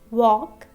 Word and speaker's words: walk: For example, walk, know, and file. So here, in first word, L is a silent letter, K is a silent letter, and E is also a silent letter.